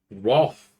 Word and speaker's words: wrath: thought dragons went Pronounced raw. Roth. Broth. No, it's like I think grass, not grass. No, it's pronounced Wrath. It is genuinely pronounced Wrath.